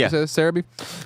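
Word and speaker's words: Celebi: What is Sarabe? Is that how you say Cereabe? It's the Japanese pronunciation for Celaby.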